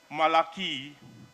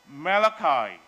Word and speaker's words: Malachi: says say my name you say Malachi Malachai Malaki at worst which in Chinese means monkey I say Malachi as in chi-square you say what you